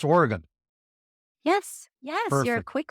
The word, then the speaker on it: Oregon: podcast okay we we out here in Oregon pronounce it Oregon not Oregon just so you're in the no so it's Oregan yes yes you're a quick learner yeah we